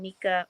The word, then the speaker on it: Nique: I mean, technically it spells Nique. Uh-huh. But yeah, I pronounce my name Nika or Dominique or yeah.